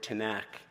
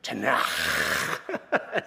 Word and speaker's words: Tanakh: shop, and I said, I used the word Tanakh, and she said, no, that's not how you say it. I said, it's not? She said, no, Tanakh. She really emphasized the sound.